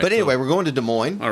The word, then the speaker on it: Des Moines: said we're going to Des Moines, or something, just making some kind of joke. But no, I know that the S is silent.